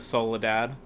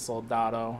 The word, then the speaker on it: Soldado: sicario day of the Soledad or soldado however it said I know I just said it wrong but it's soldado I believe um as